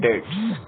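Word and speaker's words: debts: तो फिलहाल हमारे पास एक टर्म आई है बेड डेट्स। क्या आई है, बेड डेट्स। देखिए इसमें क्या है, D will be silent, sorry B will be silent, bad डेट्स, B will be silent.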